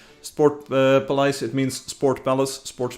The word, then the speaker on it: Sportpaleis: None of the casters were able to pronounce it correctly, because it's a Dutch or a Flemish, like Belgian Dutch name. Sportpaleis, it means Sport Palace, Sports Palace of course.